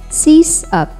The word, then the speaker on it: Sysop: Pronounce this based on its root words, system and operator. So that's Sysop. Sysop.